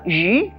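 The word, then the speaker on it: 鱼: Fish is also auspicious because the word fish in Chinese pronounced as yu, and extra or abundance is also yu.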